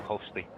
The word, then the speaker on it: Hosli: action, and Team Hosli from Switzerland over Team Klima. So we have two A qualifiers waiting to play on Championship Sunday. That's how I would have pronounced that too, Hostly.